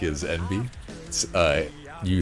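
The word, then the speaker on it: enby: Uh the the term that I heard about that I really like is envy. Uh you spell it E N B Y but you pronounce it like the letters NB and I think it's really cute.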